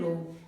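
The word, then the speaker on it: ρ: Resistance वाले derivation में क्या आया है, रो। इसको क्या पढ़ेंगे, इसको, इसका प्रोनाउंसिएशन होगा रो।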